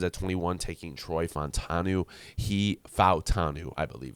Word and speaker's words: Fautanu: Fautanu, I believe it's pronounced, actually.